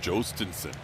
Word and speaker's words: Jhostynxon: That first name is pronounced Jostinson.